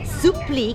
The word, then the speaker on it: Supplì: Sup is spelled s u double p l i. Supli comes from the French word supri which means surprise.